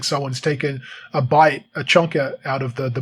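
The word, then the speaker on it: Bight: called the great australian bite now bite is spelled differently it's b-i-g-h-t it's g it's a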